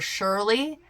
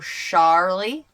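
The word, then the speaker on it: Sharlie: Everybody wants to call her Shirley, and that's not it. It's like Charlie, but with a sh, with an SH in the front. So Charlie.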